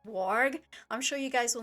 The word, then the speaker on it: Varg: And I know from my limited knowledge of remembering German from when I took it in school is that they do change their W's and their V's around. So to me I would pronounce it Varg, but to them I think it's Warg.